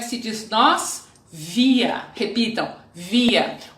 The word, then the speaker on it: wir: Repitam, wir. O R final, no final de uma palavra, tem som de A.